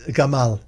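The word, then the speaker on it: גמל: for Camel in Hebrew it's the word giml pronounced Gamal that's right Gamal an animal we associate with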